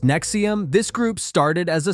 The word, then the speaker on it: NXIVM: Now, let's talk about something even darker, NXIVM, pronounced Nexium.